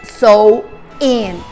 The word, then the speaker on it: Samhain: Well, the origin of Halloween dates back on the ancient Celtics festival of Samhain, pronounced so in.